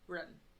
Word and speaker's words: 认: And like the run is really hard to pronounce. It's like run. It's like in the back of your throat, like the R sound comes from like back there, which is really hard for me to replicate.